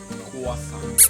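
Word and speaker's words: croissant: silent daw yung when you say the word crossan you don't need to say the T ano na quason kwa quasan quasan So marami kayong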